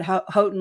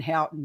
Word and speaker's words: Houghton: I was saying Houghton, and they're like, "Don't say Houghton, it's Houghton." I'm like, "Okay, okay." And I was at Houghton Lake.